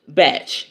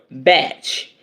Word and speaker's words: Bach: boo it's Dr Edward batch it's BAC okay uh though a lot of people understandably pronounce it as they do the composer's name that's crazy well call